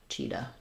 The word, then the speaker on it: cheetah: they say r and then cheetah there's our CH signed again a h says uh so that sounds like Chi and then we make a flap there cheetah um yeah great great